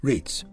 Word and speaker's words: REITs: You may also wish to consider ownership of commercial real estate through the medium of real estate investment trusts, REITs, pronounced REITs.